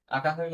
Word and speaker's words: আকাঙ্ক্ষা: আকাঙ্ক্ষাকে উচ্চারণ করলে কি হবে? আ কাং। তখন এই অনুস্বার থাকুক বা উ থাকুক, যাই থাকুক, উচ্চারণের মধ্যে উ লিখতে হয়, আকাং, তারপরে ক্ষয়াকার খা, আকাঙ্ক্ষা।